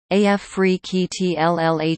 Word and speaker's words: Afrekete: Africa at work from home jobs pronounced AF free keytlh Solutions Link in the description job title credit